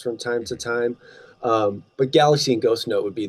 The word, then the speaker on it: Galaxe: So first and foremost, I have a solo project that I call Galaxy. It's spelled Galaxe.